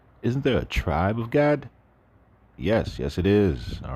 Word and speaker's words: Gad: We're gonna talk about vowels later because there's a big problem with vowels, but when you look at it in Hebrew, it is spelled with just a G-D, and it's pronounced Gad.